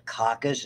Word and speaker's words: coccus: spherical or ball shaped we call it a caucus is how you pronounce it cocci is the plural and they can have